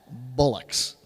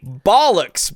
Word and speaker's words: bollocks: not English be quiet you even said Bullocks yeah you didn't even say it right bollocks brother yeah it's bollocks bollocks well I mean hey